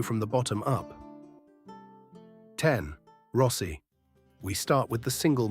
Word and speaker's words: Rossi: Americans stretch it out, Rossi, like the word boss. Italians cut it short, Rossi, with a double S you can actually hear.